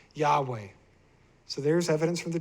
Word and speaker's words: Yahweh: Greek transcriptions also indicated that YHWH should be pronounced Yahweh. So there it is, based on the Greek, based on documents 1,800 years ago, they're saying it's Yahweh.